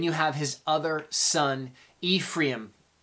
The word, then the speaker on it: Ephraim: have his other son Ephraim is how you would pronounce it in the Hebrew Ephraim um most people English call it Ephraim call them Ephraim double